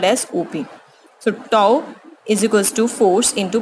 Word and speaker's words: tau: torque, represented by symbol this, and it is pronounced as tau.